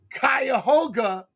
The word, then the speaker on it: Cuyahoga: okay and and check this out he's from cuyahoga county wow yeah you said it you said